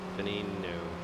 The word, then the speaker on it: Veneno: Veneno.